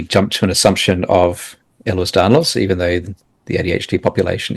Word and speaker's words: Ehlers-Danlos: Ehlers-Danlos syndrome, EDS, or hEDS. Yeah. I can never say it properly, David. Ehlers-Danlos syndrome.